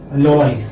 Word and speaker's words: alloy: So, this is alloy, or you are sure here, and then alloy. Okay, alloy. Now this one is, second syllable is stress.